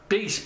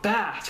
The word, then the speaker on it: bass: not another AV another base battle I keep on wanting to call it bass cuz it's spelled b a SS but no it's supposed to be say Bas okay so we got